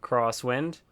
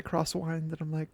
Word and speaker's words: Croswynd: my name right yeah crosswind yeah that's it yes lower people say cross wine cross wine it but it's not well I've heard you